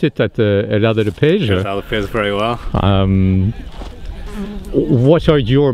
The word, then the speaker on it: Herdade do Peso: And here we're standing in the middle of the vineyards at if I try and pronounce it, at Herdade do Peso. Herdade do Peso, very well.